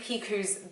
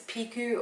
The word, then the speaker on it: Picoult: book of two ways i don't know if it's piku or pea cult like yakults anyone drink those they're super gross don't drink them they're bad let's go with pig because i've heard it pronounced a couple of times like that on booktube book of two